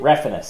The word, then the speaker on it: Refenes: Refenes. Refenes. My apologies. Yeah, you got to pronounce it the most white way possible.